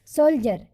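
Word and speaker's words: soldier: सोल्जर, आई ई आर है डी के बाद, इसलिए डी का उच्चारण ज हुआ।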